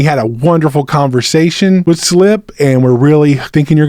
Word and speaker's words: SLP: Fort Collins artist named Slip. You'll see SLP, but pronounced Slip of Modlin Monroe.